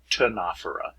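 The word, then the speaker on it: Ctenophora: know ancient greek and these two consonant pairs right here it's the second consonant you pronounce that's why it's cnidarian tanafera um you're like imagine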